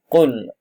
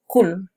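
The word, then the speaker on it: قل: Qul a'udzu birabbin nas. Qul, ya, bukannya kul, ya. Kalau kul, ya, itu sudah salah di dalam pengucapan.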